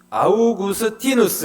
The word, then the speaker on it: 아우구스티누스: 하죠 성 어거스틴이 하고 원래 라틴어 식으로 읽으면 아우구스 아우구스티누스 있니다네 발음도 어려워요 자이 사람이 어 초대교회에서는